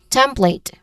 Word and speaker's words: template: Uh pronunciation wise you start with temp. There's two syllables only here. The stem which is a which has a short a sound and then you end with plate where it has a